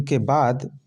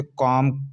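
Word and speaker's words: comb: silent होता है एम के बाद आता है बल्कि लिखा जाता है दोस्तों याद रखना जैसे सी ओ एम बी तो हम इसे कब नहीं पद सकते इसे कम खाली पढ़ेंगे देख लीजिए अब नेक्स्ट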